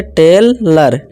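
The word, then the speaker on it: tailor: ठीक है दोस्तों, जैसे कि देखिए ओ आर आ गया, तो इसे टेलर, आ की आवाज़ निकाल दी हमने। इसी तरह लेसन, ठीक है, ओ एन है, ओ एन। डॉक्टर, इसे ओ डॉक ट और आ की आवाज़ ओ आर निकालनी है, आर, डॉक्टर।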